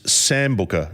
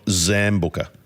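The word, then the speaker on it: Sambuca: Ben White hey boys it's samb Booker not zamb Booker are you sure about that Ben um we spell it sambuka but everybody says zambuka when you said it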